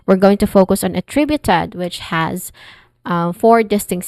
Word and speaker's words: attributed: is awa sound and then tree tri I mean tri which is the stress syllable here and then uh short oo sound and then it ends with ted.